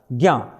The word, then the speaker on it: ज्ञ: उसका उच्चारण होता है ग और य का उच्चारण, ज्ञ।